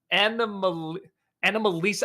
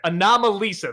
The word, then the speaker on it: Anomalisa: comes to to uh stop motion and uh an Analisa I can never say it right anomalisa there we go um is uh I know